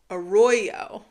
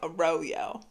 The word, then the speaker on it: Arroyo: So, the the first yarn is Malabrigo Arroyo. I've been saying Arroyo. Okay. So, apparently it's Arroyo in natural.